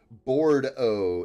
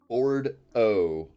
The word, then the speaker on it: Bordeaux: Pronounced Bordeaux. It's French. Oh, okay. Bordeaux. I wouldn't have thought as E-A-U-X to sound like O.